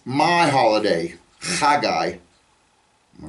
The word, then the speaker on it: Haggai: another Old Testament prophet, Haggai. Okay, or Haggai. It begins with a chet. The word Chag is the Hebrew word for holiday. And you put a yod on the end, it's my holiday, Haggai.